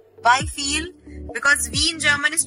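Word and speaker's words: wieviel: So don't read it as wheel. It will be wie viel. Why feel? Because wie in German is pronounced as F. Remember everyone? So we'll pronounce it as wie viel.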